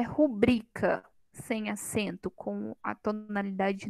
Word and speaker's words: rubrica: e e isso é a gente até ouvir né falar rubrika mas não é rubrika é rubrika a sílaba tônica é a penúltima é uma palavra paroxítona então aqui e a